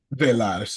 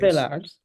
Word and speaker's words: Velaz: Velaz is what she says. Velaz.